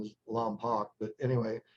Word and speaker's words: Lompoc: I guess the correct pronunciation is Lompoc, but anyway, it's a town about 30 miles from going straight towards the ocean from Neverland.